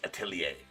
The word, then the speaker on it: Atelier: I think it's pronounced Atelier. I looked it up. It's Atelier autos.